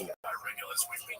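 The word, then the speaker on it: Peja: The Serbs pronounced it Pech, the Albanians pronounced it Paya.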